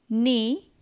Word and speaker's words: knee: Silent K. Knee.